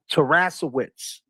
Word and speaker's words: Taraskiewicz: No, Wits, like Wits. Yeah, Wits. Wits, Like you have your wits about you. W-I-C-Z. Yeah. So it's Taraskiewicz. Taraskiewicz. Taraskiewicz. Taraska. Oh, like mascara. Taraskiewicz.